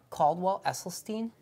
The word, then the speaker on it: Caldwell Esselstyn: Caldwell Esselstyn called Prevent and Reverse Heart Disease. Could you pronounce that again? Yeah, Caldwell Esselstyn.